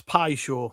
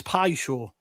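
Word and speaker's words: Paixão: I think it's Pi Show.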